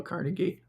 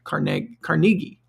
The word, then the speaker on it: Carnegie: My friend Neville, who owns the franchise for Dale Carnegie in North Carolina, he's South African, but he pronounces it Carnegie, not Carnegie.